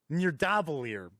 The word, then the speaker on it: Nidavellir: play near davie here i think it's pronounced near davolier pretty sure once again i don't